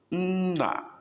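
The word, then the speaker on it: nna: Na, father. Na, first N, don't open mouth. Second N, open mouth.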